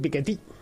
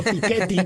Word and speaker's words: Piketty: Nos has enseñado a todos a decir Piketty. y no Piketty, que es como le estábamos que llamando. los franceses son muy de pronunciar de esa manera, entonces nosotros es al revés, entonces nosotros llaneamos y ellos agudizan.